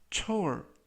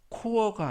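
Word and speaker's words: chore: 뜻이 되겠습니다 2번 표현은 초 초 초이라고 발음하시면 되겠고요 이때 발음에 유의하실 것은 CH 크 발음이 아니라 취 그래서 코어가 아니라 초이라고 발음하시면 되겠고요 품사는 명사 뜻은 정기적인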